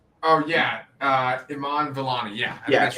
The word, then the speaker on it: Iman Vellani: How is her name pronounced? Iman Vellani. Oh yeah, Iman Vellani.